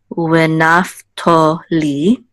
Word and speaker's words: Naphtali: This is, so remember the vav would just be w, so it's w instead of v. And this is going to be to instead of ta. So Naphtali. Naphtali.